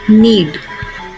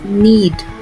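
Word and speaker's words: knead: All the words will have K letter silent. We will not pronounce the K letter. Okay, so the first word is need. It's need.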